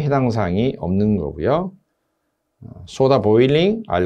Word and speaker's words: 보일링: 33번 신설 보일러 설치 제작할 때 부착된 내부에 부착된 페인트, 유지, 기름기, 녹 등을 제거하기 위해서 소다 보링. 일본식 발음이죠. 사실 보일링이죠. 보일링이고요. 보링 하면 안 되고요.